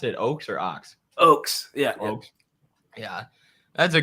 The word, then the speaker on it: Ochs: Is that how it's pronounced? It Oakes or Ox? Oakes.